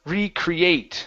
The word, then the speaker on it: recreate: let's go to okay the word recreate so our stress is going to be at the very end here okay so this